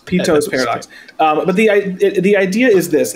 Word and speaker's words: Peto's paradox: It's Peto's paradox. P-E-T-O apostrophe S. Peto's paradox.